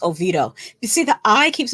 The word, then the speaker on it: Oviedo: we'll know these people oh vido oh it's pronounced ovito you see the i keeps messing me up i keep wanting to say oviedo because there's an eye in it so it's